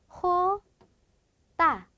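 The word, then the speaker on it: jota: 얘도 좀 발음이 특이해요 즉 스페인어에 있는 모든 지읍 발음은 히읗 소리로 대체가 된다라고 보시면 되는데요 그래서 얘는요 명칭이 어떻게 되냐 호다 요렇게 됩니다 즉 스페인어로는 호따 렇게 되는데요네 얘도 마찬가지로 거친 히읗 소리 로 발음을 내주셔야 합니다 자 같이 해 볼까요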